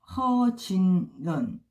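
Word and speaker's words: 何俊仁: 리즈잉, 그 다음에 천방 안성, 그 다음에 리즈밍, 그 다음에 허진런. 이거는 중국어 발음이고요.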